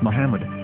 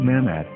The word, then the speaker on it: Muhammad: after the H according to Ben yehuda's Hebrew English dictionary it is correctly pronounced as Muhammad not mmad so how we're going